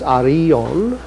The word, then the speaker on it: Arion: The Greek pronunciation is Arion, and it's the name of a legendary Greek poet who was saved from the sea by a dolphin.